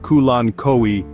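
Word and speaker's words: Kalanchoe: addition to your garden the colano pronounced kulan koi is a genus of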